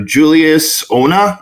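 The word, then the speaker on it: Julius Onah: 4 getting their director Julius Ona, I believe. Yeah. I'm not sure that's how you pronounce it. That's how you pronounce it. Nailed it.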